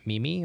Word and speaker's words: meme: Is it meme or is it Oh, meme? come on. We've established this back in, like, 2008. It's team meme. Team meme. Yeah. Meme's for the The E is silent.